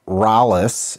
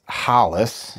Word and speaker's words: Rolles: you today uh mr hollis gracie for those of you that don't speak portuguese it's not rallis it's hollis yes i saw a